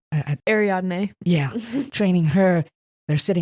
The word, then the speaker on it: Ariadne: when he is training, how do you say, Ariana? Ariadne.